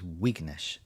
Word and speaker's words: Vignesh: Akash has gone in the live chat, says I might have mispronounced Vignesh's name wrong. It's Wignesh. So I'm just going to take his word for that.